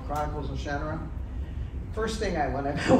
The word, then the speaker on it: Shannara: It's Shannara.